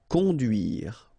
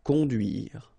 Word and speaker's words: conduire: Conduire. Okay, remember. U, du, duire. Conduire. Conduire.